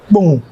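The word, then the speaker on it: Kpone: hmm I live in pound k-p-o-n-e not the boom yeah boom that's how we pronounce it I know okay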